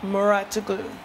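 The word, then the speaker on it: Mouratoglou: Muratoglu.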